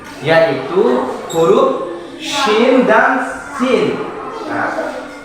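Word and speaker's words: ش: Pada ayat ketiga di atas ada huruf yang hampir sama pelafalannya, yaitu huruf shin dan sin. Nah, bagaimana cara menyebut shin? Shin. Ah, sin.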